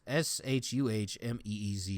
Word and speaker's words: chemise: Shumez. Sumez. Shuhmeez is how you pronounce it.